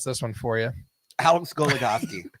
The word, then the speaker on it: Goligoski: Alex Goligoski. How did I pronounce it before we started last week? Incorrectly. Gugagagoski.